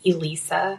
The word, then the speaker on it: Elisa: I hate to correct you but my pronunciation for my name is Elisa.